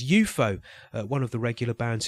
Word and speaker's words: UFO: And he was the organiser as well of a weekly psychedelic nightclub event in London, spelt UFO but pronounced as UFO.